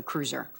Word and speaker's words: Kreutzer: So cruiser. It's So not a lot Kreutzer. easier than it looks. Yes, So cruiser. with that, Thank you. everybody can take note. It rhymes with bruiser.